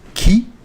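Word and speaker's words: qui: The who is pronounced key.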